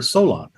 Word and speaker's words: Solon: on a historical character I based it on the character Solon s o l n now in the script it's spelled s o l a n I only did that so people would say the name correctly so it wouldn't be a bunch of people saying Salon Sol so I've done